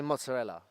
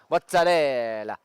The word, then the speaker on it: mozzarella: you know the Italians they don't say mozzarella it's mozarella that's pron that's pronunciation